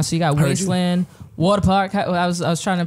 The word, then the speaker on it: Wadapawk: see it so it's it's like water it's water park water water park year my accent my accent not as strong as